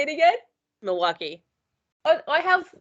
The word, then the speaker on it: Milwaukee: She is from Wisconsin, and I didn't even say where because that's a hard name to pronounce. I'm sorry. How do you say it? Milwaukee. Say it again. Milwaukee.